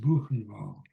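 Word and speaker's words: Buchenwald: the c h n w a l d pronounced banal they that was a lot of them were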